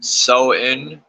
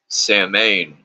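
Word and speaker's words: Samhain: greater sabbaths s pronounced soen though the vast majority of witches mispronounce it samain mbul inul pronounced say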